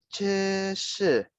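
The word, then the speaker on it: 这是: Nah, walaupun di sini tulisannya Z, tapi cara bacanya seperti huruf C. Ya, jadi cara bacanya 这是. Nah, ini Lause tuliskan cara bacanya. 这是, walaupun tulisannya zhi, ya, tapi bukan dibaca zhi, tapi 这是.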